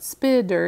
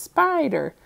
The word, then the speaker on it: spider: and think oh okay let me try it out with a long vowel sound it's not spitter it's spider so I'm gonna circle